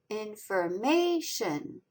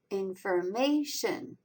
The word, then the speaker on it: information: Information. The third syllable, may, is the strongest accented. In also has a lighter accent mark. Information.